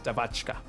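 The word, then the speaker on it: девочка: Did I pronounce it right? Is the question. Devochka. Devachka. Search it up too. It's Devachka. Anyway, yes, so a little swindling Devachka.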